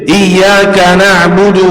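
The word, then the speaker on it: إياك نعبد: pentingnya kita baca Alfatihah ini yang benar jadi iyaka na'budu wa iyyaka nasta Nu ya yang pertama nunnya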